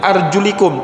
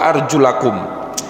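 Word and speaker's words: أَرْجُلَكُمْ: mushaf kita bermazhab Syafi'i kata rijlun tidak dibaca dengan arjulikum tapi dibaca WA arjulakum di ataskan kepada apa kepada muka versi hukum bukan kasrah tapi Fatah Wangsa basuhlah muka kalian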